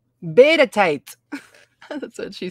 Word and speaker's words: Bedetite: How to pronounce. Beta tight.